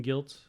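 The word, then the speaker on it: Gylt: So when you have to like spell it for somebody, they're like, "Oh, it's guilt, but it's spelled right. G-Y-L-T."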